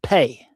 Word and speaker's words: Phat: And then Phat, in Tibet, um that mantra is pronounced pey.